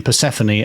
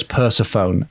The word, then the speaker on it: Persephone: You may remember, to annoy pedants, I pronounced the name Persephone as Persephone, and I thought myself a little rascal.